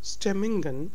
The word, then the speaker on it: stemmingen: Moods are called stemmingen in Dutch. Stemmingen. So it's G. The sound is G. It's not H as in the usual words, because it's in the middle.